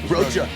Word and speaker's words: Rocha: Rocha.